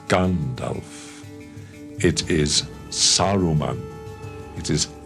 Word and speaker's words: Saruman: It is Saruman.